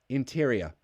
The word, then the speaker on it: interior: pronounce interior great question great words in tyria it ends with a schwa sound interior Hey look at that Laura Cheever just subscribed welcome um interior interior I'm exaggerating the schwa just so you hear that it's a schwa but yeah interior Ana